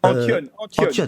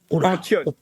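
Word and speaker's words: Antton: Antion, il est basque. Antion. Alors, le prononcer basque.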